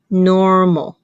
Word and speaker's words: normal: 第 3 个字 normal，这个字我特别把它写出来，是其实虽然它有 2 个母音字母 O 跟 A，但是它所发的母音只有一个，就是那个 O 短